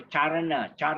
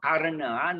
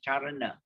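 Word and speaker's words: caraṇa: C is always pronounced as CH. So charana, not karana, not karana, is charana, yeah.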